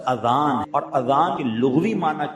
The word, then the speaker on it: اذان: نیکیاں کما سکتے ہیں۔ بعض لوگ آذان کہتے، یاد رہے پہلے اذان کہتے کس طرح ہے، اس کا تلفظ لیں، آذان اذن کی جمع، اذن کہتے کان، یہ آذان نہیں ہے، لفظ اذان، اور اذان کے لغوی